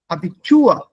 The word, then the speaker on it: Abitur: Abitur. See the word here. All of us know the word Abitur. Aha. Abitur. Ich mache Abitur. Nein, ich mache Abitur. The stress is on the second half.